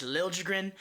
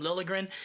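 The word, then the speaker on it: Liljegren: shar's Instagram when he introduced himself it is Lil jrin Randy Han also kind of confirmed that that his name is pronounced Lil jrin um even hearing him for years with the Leafs apparently they called him lilligren it just goes to show you why people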